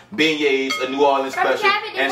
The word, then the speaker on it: beignets: printed out how do you pronounce b-e-i-g-n-e-t it's pronounced beignets a new orleans special and so that's what